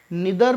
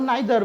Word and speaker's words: neither: Basically कुछ words ऐसे हैं जिनके टू प्रोनाउंसिएशंस हैं, ठीक है, जैसे NEITHER, निदर भी होता है और नाइदर भी होता है, ठीक है।